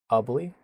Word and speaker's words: Ubly: See a couple of you guys are watching from Ubly. I know it's pronounced like ugly.